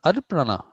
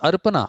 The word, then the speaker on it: Arpana: But that's Arpana. It's not Arpana. I always thought it was Arpana.